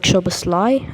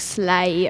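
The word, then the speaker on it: Szoboszlai: the list is Dominic shobassly uh that that name's a bit hard to pronounce don't you think yeah totally I was I was saying Dominic slay a few days ago yeah uh so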